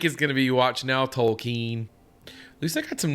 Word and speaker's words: Tolkien: It's Keen, sir. It's pronounced Tolkien.